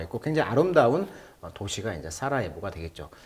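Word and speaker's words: Sarajevo: 이렇게 나와 있고 굉장히 아름다운 도시가 이제 사라예보가 되겠죠. 영어식 발음은 강세가 뒤에 있네요. 3음절에 사라제이보 이렇게 읽습니다.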